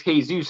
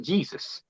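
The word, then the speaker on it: Jesús: don't pronounce it jade that's why it's hey zeus and not jesus oh i always say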